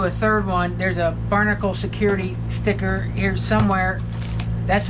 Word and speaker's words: BRNKL: It's called the Barnacle, which is this is how you, let's see, good way how to spell it. But anyways, it's how it sounds. Barnacle.